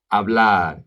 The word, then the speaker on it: hablar: Hablar, the H is silent.